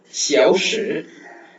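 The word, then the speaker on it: 小时: அதுக்கு ஷியாவ்ஷி ஷியாவ்ஷி ஷியாவ்ஷி. ஸோ XIAO ஸோ எக்ஸ் வரும்போது நம்ம அதுக்கு எஸ்ஹெச் சவுண்ட் யூஸ் பண்ணோம். ஸோ ஷி ஷி ஆவ் ஷியாவ் ஷியாவ் ஷி எஸ்ஹெச்ஐ. இந்த எஸ்ஹெச்ஐ பார்த்தீங்கன்னா ஷி அப்படின்னு ப்ரொனவுன்ஸ் பண்ணணும். ஓகேவா?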